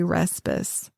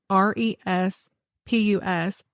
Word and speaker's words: Respus: Because they say that there were other people back then, and that's how or other people with that same last name that lived in that area, and they pronounced their name Respus.